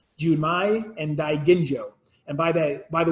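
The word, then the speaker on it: Daiginjo: correctly do my and die Ginjo and by the by the way is pronounced with a hard G not gin like the alcoholic beverage as died India with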